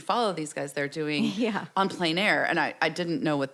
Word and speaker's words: en plein air: Yes, En Plein Air.